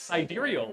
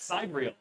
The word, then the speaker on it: sidereal: And fun fact, as I found out very recently, it is pronounced sidereal and not sidereal.